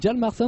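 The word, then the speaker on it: Hjalmarsson: Jalmarsson, on prononce pas le H alors.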